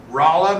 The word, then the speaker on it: Rolla: did you know that Rolla, Missouri is named after Raleigh? And she said, that's ridiculous. We don't pronounce it that way. We pronounce it Rolla.